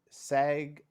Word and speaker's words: SAG: you guys is the SAG f strike break how you pronounce it just say sag sag with a little bit more chest to say is yeah